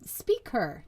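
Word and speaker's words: SpeakHer: project of mine um it's called speak her um pronounced speaker so it's the word speak in her and it really just came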